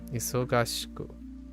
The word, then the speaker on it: 忙しく: Oh, it's going like iso shika isoshiku arimasen. Isoshiku arimasen. 今週は忙しくありません。 Sounds kind of weird. Oh, I'm skipping a syllable. That's why. Isogashiku. Yeah. Isogashiku arimasen. Yeah, I'm skipping a syllable. I'm skipping ga.